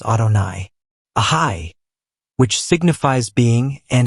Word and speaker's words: Adonai: Adni, meaning Lord and pronounced by us Adonai.